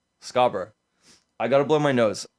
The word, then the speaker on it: Scarborough: Scarborough. Scarborough.